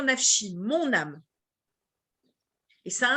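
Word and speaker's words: נפשי: c'est à dire que on ne lit pas comme ça s'écrit même s'il ya écrit nab show on doit aller qu'on doit le dire nachi mon âme et ça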